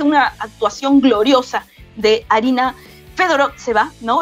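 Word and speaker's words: Fedorovtseva: Con la verdad es que una actuación gloriosa de Arina Fedorotseva, ¿no? Estaba preguntando cómo era la pronunciación exacta, ¿no? Fedorotseva es exactamente la pronunciación.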